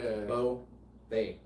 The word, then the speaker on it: Beaufait: lock it in the best way to remember how to pronounce my last name think about tying a bow right so you got bow and then think about a parfait like yogurt bow thing.